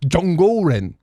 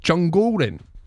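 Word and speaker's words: 中国人: Perth, and she said, your pronunciation was very good and your use of tones was very accurate. Zhongguoren. And apparently tones is the most difficult part.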